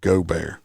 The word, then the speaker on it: Gaubert: start out with uh adam uh gobert that's how his name is pronounced i know a lot